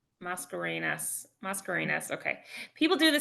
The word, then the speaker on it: Mascarenhas: blame you it's a complicated last name it's mascarenas mascarinas mascarinas okay people do the same thing with